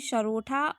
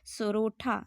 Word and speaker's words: सोरठा: बीच बीच में इसमें सरोठा और बरोठा छंद भी मतलब देखने को मिलता है, यूज़ किया गया है। सरोठा सोठा सॉरी सोरठा, ठीक है, मिस प्रोनाउंसिएशन हो रहा है।